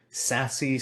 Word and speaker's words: SASE: what is sassy and yes that is how you pronounce s-a-s-e sassy so we're gonna have